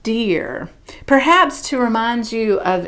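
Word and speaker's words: Deor: name is spelled d-e-o-r looks like dior but it's it's supposed to be pronounced deer perhaps to remind you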